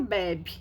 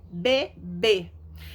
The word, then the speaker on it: bebê: Sem acento vira bebe. Não quero bebe. Esse desenho aqui não é bebe, é bebê.